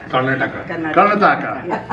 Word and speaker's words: Karnataka: Karnataka? Yeah. Karnataka, India, has demonstrated distinguished leadership in advancing public